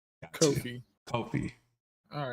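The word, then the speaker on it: Ko-fi: Yes, Kofi. Okay, not coffee, but Kofi. Got you. Kofi. Kofi.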